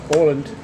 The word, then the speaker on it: Åland: Åland. They pronounce it Åland.